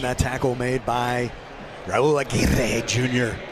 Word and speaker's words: Aguirre: And that tackle made by Raul Aguirre Jr. I love the way the pronunciation got. Aguirre. They tell you got to roll the R. Aguirre. Yeah, Aguirre.